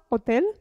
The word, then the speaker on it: hotel: g ad esempio gelato h ad esempio hotel l'accordo in italiano non si pronuncia vedremo in seguito all hotel ho detto io isola